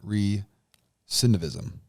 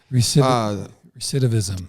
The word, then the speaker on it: recidivism: racial wealth gap, generational poverty, and reentry and recidivism. Did I say that right? Not quite. I'll try it again. Say it again. Recidivism. You said it wrong that time, Doc. Recidivism.